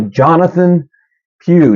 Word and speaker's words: Jonathan Pugh: ahead and jump in right here so uh Jonathan Pew did I say it right I did it